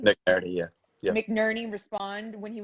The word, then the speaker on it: McNerney: McNerney? McNerney, yeah.